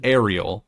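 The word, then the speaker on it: Areel: She says it like Ariel, but it's spelled A R E L.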